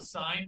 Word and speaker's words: sine: So it's actually spelled S-I-N-E. Please don't say sin. We're not talking about sin. Okay, we're talking about the sine function.